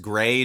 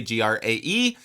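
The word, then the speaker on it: græ: When I'm weary and it sounds amazing at the top, and if you haven't listened to his album, I think it's pronounced Gray, Grae.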